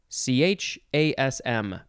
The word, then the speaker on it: chasm: im at the end next we have chasm c-h-a-s-m but it's pronounced chasm noun from 1596 one